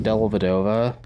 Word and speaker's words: Dellavedova: about Australia and the Cavs is it Matthew dellavedova that is correct Deli has signed to Melbourne